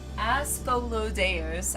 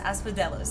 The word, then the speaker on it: Asphodelos: Aspholos. I don't think I said it right. Aspo. Asphodelos. Asphodelos. There it is.